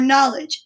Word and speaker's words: knowledge: to show everybody your knowledge now knowledge sounds like it starts with an n but remember there's a silent letter k there and it's kind of